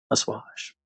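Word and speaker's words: assuage: surveillance to use to assage the needs of business am I pronouncing that correctly asash Awash that's what Google says that's how you pronounce it anyway um the needs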